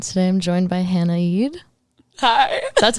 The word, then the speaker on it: Eid: Like, Eid.